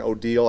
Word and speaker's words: Odile: of last year, Hurricane Odile, I had to go online to make sure that I'm pronouncing that right. It's Odile, not Odile.